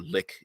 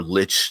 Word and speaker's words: lich: like we understand that a little itch is right or lick if you want to pronounce it like I apologize for those for them the liquor pronunciate errs out there I prefer Lich seems a little more evil but we understand a